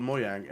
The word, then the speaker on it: Mojang: say yeah I work in this company called moyang and many people don't know it even if